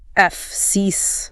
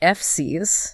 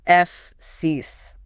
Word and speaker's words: Fsiis: It requires a quick push of air for the F, so just F-S, and then you slide immediately into a long, smiling E sound. And then you have to stick the landing. Yeah, on a sharp, hard S, F-siis. The ending is the critical anchor point. The documentation explicitly states it must not end in a buzzy Z sound.